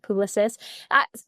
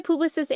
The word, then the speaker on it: Publicis: Just because I know, kind of thinking about being on global, depending on, what country or region you may be speaking to, it could be Publicis or it could be a Publicis.